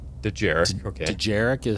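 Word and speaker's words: Dejarik: I think it's Djarik. Djarik. Okay. Djarik is how it's pronounced.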